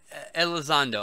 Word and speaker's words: Elizondo: It's Hector Elizondo, I think his name is. I fucked his name up. Hector Elizondo.